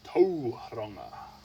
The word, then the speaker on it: Tauranga: Roll the R a little bit if you want to say it right. Well, a lot of people say Tauranga. Tauranga. And you can say that, but it sounds better, or it is correct.